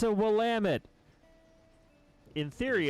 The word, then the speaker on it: Willamette: I have also heard it been pronounced Willamette. Don't know the efficacy of that statement. Yeah, I've had a few people correct me and say it's the second syllable, Willamette.